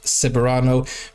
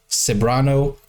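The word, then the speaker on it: Ceberano: also and the Beautiful Kate seano pronounced saano thank you so Kate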